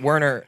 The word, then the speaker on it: Werner: My name is Werner. It's pronounced with like a V. Werner.